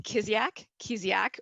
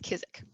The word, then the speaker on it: Kiziak: So there's 3 ways you can pronounce it, and all of them are okay. It's Kiziak, or if you're Ukrainian, it's Kiziak.